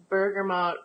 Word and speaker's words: bergamot: bergamot oil Bergamo bergamot kind of depends on whether you have a French twist due to the way that you pronounce things but but bergamot is kind of the way they where Americans say it so today we're